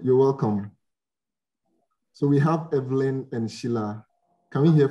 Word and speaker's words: Evelyn: I prefer to be called Evelyn. Evelyn. Yes, right. Please. Evelyn with a stress on the E.